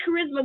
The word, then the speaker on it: charisma: elementary school kids no if you can't say Charisma which is three syllables I'm have to ask